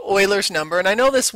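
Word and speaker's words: Euler: is from wolf from alpha it's actually called Oilers number and I know this word here uler it looks like uler like ber but uler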